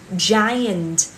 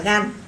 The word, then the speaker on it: giant: Chứ không đọc là gan. Một số bạn hay đọc một âm tiết thực tế, từ này có hai âm tiết ạ.